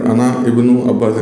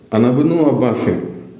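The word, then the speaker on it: ابن: sign को जो है यहाँ पे आप देख सकते हैं, यहाँ पे साइलेंट हो जाता है, ये साइलेंट है, ये इब्न जो है इसके ऊपर अलिफ के ऊपर जो निशान देख रहे हैं ये साइलेंट का है, इसलिए हमको ऐसे नहीं, अना इब्नु अब्बास ऐसे नहीं पढ़ना है, अनबनु अब्बासिन, अनबनु अब्बासिन, इस तरीके से जमा के पढ़ना है, अनबनु अब्बासिन, मैं अब्बास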